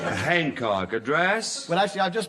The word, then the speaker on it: Hancock: The H is pronounced, and anybody who says it ain't is ignorant. Hancock, address?